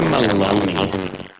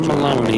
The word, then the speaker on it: Meloni: Georgia Maloney. It almost sounds Irish, but it's not spelled like Maloney. It should be. And then maybe I'll take the Italians seriously. Far-right leader Giorgia Meloni has set to become Italian prime minister.